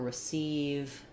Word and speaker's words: receive: with e, but um if we're looking at a word with r e for example, like return or receive where it's not stressed on that e, that's also going to be an i sound.